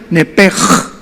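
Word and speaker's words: נפש: P de Pedro, SH, nepesh, tal como suena. Nada más que la CH en el hebreo se pronuncia como J, se pronuncia nepej, como J.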